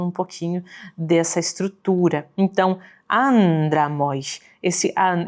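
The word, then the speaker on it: ἄνδρα μοι: Então, andramoi, andramoi. Esse an aqui de início, ele vai ser mais longo do que o restante das sílabas desse trechinho.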